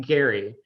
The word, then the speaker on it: Gerry: is that a hard g gary it is pronounced gary so really it should be gary mandering but